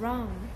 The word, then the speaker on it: wrong: Rồi, what's wrong? Có điều gì xảy ra vậy đúng không? Ok, what's wrong? What is wrong? Wrong, wrong. Chữ R là không âm nhá, mình sẽ đọc là wrong, đúng không nào?